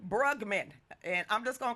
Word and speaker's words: Brugman: your last name bugman you said it right bugman bugman and I'm just gonna call you from Gary